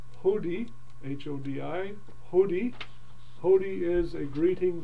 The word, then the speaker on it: Hodi: And then dropping down to the very last paragraph where the word says Hodi, H-O-D-I, Hodi. Hodi is a greeting that you would pronounce as you're coming toward a house or a building or a group of people.